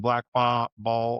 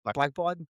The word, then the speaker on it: Blackbaud: So your CRM system on Blackball or Blackball. Am I saying that right? Oh, Blackball? Black, Blackbaud?